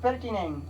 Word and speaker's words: pertaining: अच्छा ये लिखा जाता है pertaining, pertaining to और related to, PERTAINING, pertaining to, R silent है।